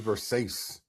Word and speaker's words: Versace: man, this is Versace. This is Versace. Versace.